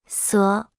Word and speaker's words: 所: 所所所所所所所 Se pronuncia con el tercer tono.